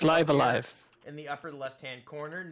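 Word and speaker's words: Live A Live: back from my little vacay levivi olivi it's pronounced so let's start it's live alive in the upper left-hand corner it's live alive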